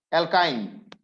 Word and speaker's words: অ্যালকাইন: তারপর দেখো অ্যালকাইন। অ্যালকাইন অ্যালকাইন নামের শেষে আইন উচ্চারণ হবে।